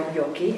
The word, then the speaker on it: Joki: I'm Joki, or Yoki if you want the Finnish pronunciation, and we made these